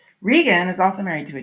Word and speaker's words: Regan: Not Reagan, Regan. That's the pronunciation of her name. Regan is also married to a duke.